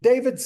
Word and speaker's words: David: the vanishing point in David's sketch for his painting I mean sorry David gotta make sure I pronounced that in the French way now notice where it